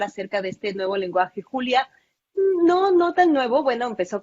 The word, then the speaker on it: Julia: El curso que nos presenta es en Julia, pero en Julia, como se pronuncia en inglés, pero también maneja otros lenguajes de programación como C++, Java, Perl, R, SAS y Python.